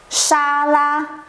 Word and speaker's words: 沙拉: Okay, so 沙拉 is a word. The sound is from English, so it's not really a Chinese word. Okay, so 沙拉.